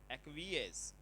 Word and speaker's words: acquiesce: एक्वीज, एक्वीएस, एक्वीएस इसको बोलते हैं, वेरी वेरी इंपॉर्टेंट वर्ड है।